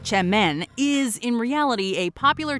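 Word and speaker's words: Çemen: Spelled with a C, semen, pronounced Chemmen, is in reality a popular type of dip or spread that hails from Turkey.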